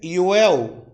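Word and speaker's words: יואל: Joel no hebraico é Yoel.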